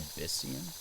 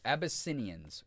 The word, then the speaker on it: Abyssinian: An Abyssian? That's a cool name. Or Abyssinians. I missed a whole syllable in there.